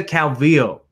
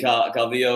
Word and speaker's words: Calvillo: I think in Colombia it's pronounced differently, right? The double L. But I don't think Cynthia Calvillo is Colombian. So if she was from Medellin, then I would call her Calvillo.